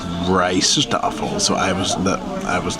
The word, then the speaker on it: Rijsttafel: here and we asked them they said it's pronounced rice stle so I was I was not saying it correctly so rice tle rice table well I guess what you could